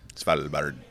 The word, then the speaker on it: Svalbard: Svalbard. Svalbard. That's how the locals say it.